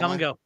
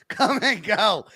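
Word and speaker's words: Kum & Go: Come and go. Come and go. And it's spelled C-U-M. Come and go.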